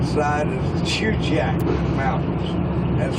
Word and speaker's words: Chugach: of mountains on the right side is the shoe jack mountains that's spelled c-h-u-g-a-c-h they uh decided against this bridge